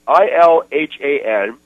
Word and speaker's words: Ilhan: And this guy's name, this guy's an Obama impersonator, and his name is it's Ilhan, I-L-H-A-N, okay. Anas, okay. A-N-A-S. Okay. You can pronounce that any way you want right.